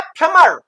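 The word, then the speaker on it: plumber: अच्छा अब इसी प्लम से बना है फ्लमर। तो ये बी जो है ये साइलेंट रहेगा यहां फ्लमर नल ठीक करने वाला।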